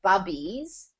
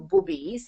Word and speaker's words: Bubbies: going and just getting a simple jar of bubbies bu U BB I E es or Bobbies however you want to pronounce it um plain sauerkraut so it's just